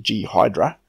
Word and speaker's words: Ghidra: Deidra now download the Ghidorah first some have been telling me this is actually G Hydra but I'm still going off the wiki pronounciation so it lets download nidra